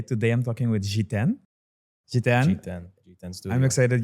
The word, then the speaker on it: Jiten: is Jan melwani um G10 for people that can't pronounce G10 um not G6 not